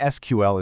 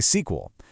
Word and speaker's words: SQL: Now, saying SQL is totally fine, but its original name was actually sequel, so you'll often hear senior engineers say sequel.